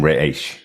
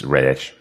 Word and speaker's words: Ra's: A really weird phrase in which he uses, but Yeah, Bruce calls him Raish. That's how he pronounces Ra's al Ghul. It's Raish.